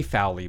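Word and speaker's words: Fowlie: and blockers and Jimmy Fowler by the way is a creator and star of go-go boy interrupted I didn't say his name Sally uh-huh it's like Fallon but not quite it's fo WL ie yeah he's hot very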